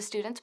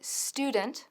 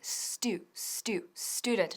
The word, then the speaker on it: student: Pero lo que nunca decimos es the half of the students porque suena fatal. Ahora, cuidado con la pronunciación de student porque es student. No es student, no. Student. Repite conmigo, student.